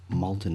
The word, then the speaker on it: Maldon: It's Maldon and I think it's spelled m a u l d o n.